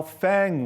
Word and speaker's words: FAANG: mix and that's how Fang was born with a long a Apple has no doubt